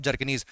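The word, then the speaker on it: Bjerknes: Gilbert Walker के साथ-साथ Jacob जरकनी ठीक है बी साइलेंट है तो गिल गिलबर्ट वकर और जैकब जरकनी याद नर्मल सिचुएशन में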